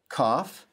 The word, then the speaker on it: kaf: Kaf is pronounced like the K in king.